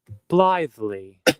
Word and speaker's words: blithely: Almost sound like lively. Blithely. Oh, let's get this word here in the glossary.